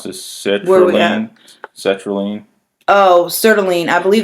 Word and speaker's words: sertraline: So, how do you pronounce this? Sertraline?